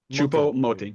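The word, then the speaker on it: Choupo-Moting: do you say his name again Cho moting chupo moting yeah so yeah yeah the money was wild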